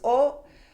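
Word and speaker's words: を: And then this O, you might be thinking, oh, we did O before. Yeah, remember the O sound? Yeah, it's the same pronunciation, but this is used in a different occasion.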